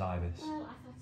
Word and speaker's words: Ibis: Hotel the adverts the marketing it all says Ibis anyway can we please go eat yes and